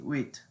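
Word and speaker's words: huit: no no oh wheat remember that it's um silent h u-i-t wait and also rhymes with nui so it's kind of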